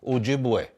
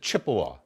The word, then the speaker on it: Ojibwe: Okay, the names of the Anishinaabe, the names of some of the tribes, Ojibwe. Okay, some people pronounce it Chippewa.